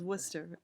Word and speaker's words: Worcester: It's Is there pronounced it? Worcester. Yeah, I know there's an accent. Well, it's Worcester.